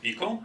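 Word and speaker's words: Pkl: of all Apple pickle it's pronounced like pickle and it's built by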